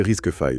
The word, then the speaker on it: RISC-V: Prononcé risque 5, c'est ça? C'est ça, risque 5.